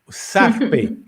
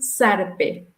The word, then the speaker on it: zarpe: Zarpe. I pronounced it wrong, right? Yes. Z is pronounced S in Costa Rica, ¿verdad? Z it's pronounced as an S. So, S. echarse un zarpe.